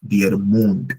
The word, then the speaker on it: der Mond: Then we have der Mond, which is the moon, der Mond, and the mouth is der Mund.